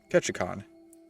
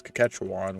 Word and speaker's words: Ketchikan: to a place called ketchikan which for some reason my mom kept pronouncing his cache wand which i just said sounded like szechuan sauce but you know we